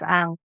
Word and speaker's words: Ankh: A Unk? starts with an A. It's Ankh.